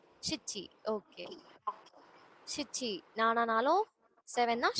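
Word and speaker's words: しち: நானா நானா இன்னொரு வேர்ட் ஷீச்சி சிச்சி ஓகே சிச்சி நானானாலும் செவன் தான் சிச்சினாலும் செவன் தான்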